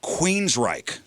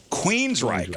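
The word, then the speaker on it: Queensrÿche: The next band is Queensryche. Ah, yes. Queensryche. Now, look how this is spelled. There's an umlaut. Yeah. Queensry with an umlaut over it, CHE. Queensryche. That Y is going to throw them off, I feel like.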